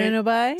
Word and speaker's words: bueno bye: Bueno bye? So it's bueno bye with the B barely pronounced, right? Pronounced like a W?